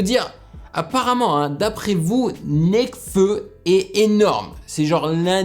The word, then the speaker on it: Nekfeu: C'est pas Nekfeu, c'est Nekfeu.